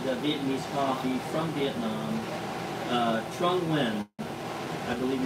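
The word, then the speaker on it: Trung Nguyên: Vietnamese coffee from Vietnam Trung win pronounced that way very aromatic and use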